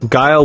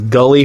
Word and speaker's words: Guile: my friends and I, Guile was Gully for at least a year.